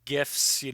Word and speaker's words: GIF: No, Well, I no mean, GIFs here. one of my personal principles is that I always pronounce the acronym based on the first word.